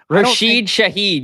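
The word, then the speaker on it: Rashid Shaheed: minus I mean we we stopped Alvin CRA Shahid uh what is his name rahid Shahed or whatever Rashid Shahed yeah I know I I struggle with it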